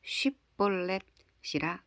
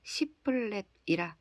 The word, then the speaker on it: 쉽볼렛: 아니라 하면 그에게 이르기를 쉽볼렛이라 발음하라 하여 에브라임 사람이 그렇게 바로 말하지 못하고 십볼렛이라 발음하면 길르앗 사람이 곧 그를 잡아서 요단강 나루턱에서 죽였더라.